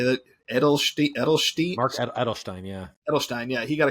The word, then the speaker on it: Edelstein: how do you say that Ed edstein Mark Edelstein yeah Edelstein yeah he got a couple of